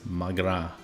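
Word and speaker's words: mo ghrá: a room we're going we're going come on mogara Irish for my love huh and I got an achievement with this unpronounceable when dialect but pronounced as magra and a slant a quick way of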